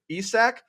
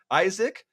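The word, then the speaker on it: Isak: definitely going to mispronounce Alexander isach Isaac gotta help me out here isack is that it nice isack okay yeah we're taking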